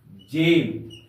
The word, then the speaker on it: gem: जैसे यहां पर हम लोग ई को लेते हैं, GEM, जेम, या ई के पहले जी का प्रयोग किया गया है। इस जी का उच्चारण जौ के समान होगा, जौ के समान होगा। जेम, GEM, जेम का अर्थ होता है कीमती पत्थर, कीमती पत्थर।